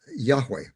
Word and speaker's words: Yahweh: to God as as Yahweh. That's the that's the pronunciation scholars use for that name, although we don't exactly know how it was to be pronounced.